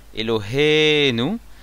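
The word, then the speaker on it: אלהינו: Elohenu Miléel, ça veut dire qu'on prononce sous le He. Donc sur le He, l'accent tonique, Elohenu.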